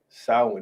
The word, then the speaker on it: Samhain: No, Salem. No. Samhain. They told you how to pronounce it earlier.